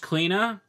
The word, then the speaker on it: Clena: what I just realized it probably actually is pronounced cleaner and it's a joke because she's the cleaner that's a stupid everyone